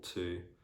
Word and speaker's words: two: as well um yeah the letter w also can be silent in other random words like for example two or sword sword yeah the only words